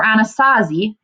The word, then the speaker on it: Anasazi: At Mesa Verde, more than 600 cliff dwellings tell the story of the ancient Puebloan or Anasazi. Again, that just tells us how to pronounce that.